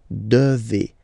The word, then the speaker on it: devez: Remember, classic ending for vous here, a Z, but then you pronounce this combination of two letters, E, E, devez, devez, vous devez.